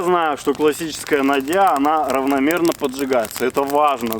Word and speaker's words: нодья: Давайте так, во-первых, произношение слова надья, оно применимо в двух вариантах. Нодья правильно, надья правильно. Но именно там, где ее придумали, говорят надья.